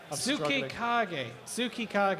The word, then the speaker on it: Tsukikage: And the robot, which I got told off for mispronunciation, Tsukikage, I believe. Hopefully I can get a... Tsukika is what I got told on the chat. Tsukikage, yes. They phonetically spelt it out for me so that